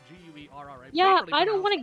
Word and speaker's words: Guerra: It's properly pronounced Guerra, but you're a gringo, so we're not going to go.